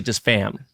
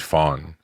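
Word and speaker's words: Pham: I've heard people say just fam so you know the crazy thing is it's it's for so for my last name with the N like we pronounce it Fawn but all my life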